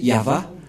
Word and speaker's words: Yahvah: Yod c'est l'alphabet hébreu qui est prononcé yava et dans Genèse 2133